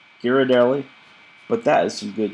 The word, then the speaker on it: Ghirardelli: I don't know how to pronounce Giardelli. Girardelli. Ghirardelli.